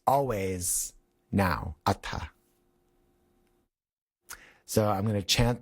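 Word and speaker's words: atha: In Sanskrit, uh, H's are letters that are aspirated as opposed to like a compound sound like a th in English, like my name Seth.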